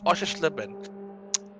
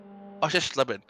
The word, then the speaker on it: Oschersleben: Yes, I pronounced it correctly. Oschersleben. Oschersleben.